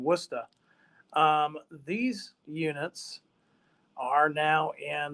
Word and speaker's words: Worcester: Providence in Worcester now if I were to pronounce it correctly it's Providence and Worcester these units are now